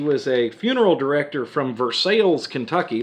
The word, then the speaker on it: Versailles: a funeral director from versailles kentucky that's spelled like versailles france but you don't say it versailles in versailles they will correct you then he was a